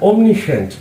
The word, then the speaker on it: omniscient: एक और वर्ड मैंने आपके लिए चुना है ओमनिसेंड ओमनिसेंड कहते हैं उसी की तरह स्पेलिंग ओमनी और आगे एस सी आई ई